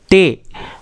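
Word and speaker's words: ٹے: तो इसी तरह अगला अक्षर है टे, इसका प्रोनाउंसिएशन होता है टे, और हिंदी में इसको बोला जाता है टा,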